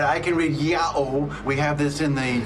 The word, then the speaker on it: Ιαω: slightest hesitation said this word is to be pronounced yahoo all right i can read yahoo we have this in